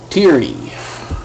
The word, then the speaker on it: Tierney: Tierney. That's how you pronounce it.